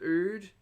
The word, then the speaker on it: Ood: Ood is in wood.